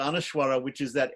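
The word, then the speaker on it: anusvara: on top or underneath which is pronounced like MA or like M mmm or mmm depending on whether you're in South India North India and and the AHA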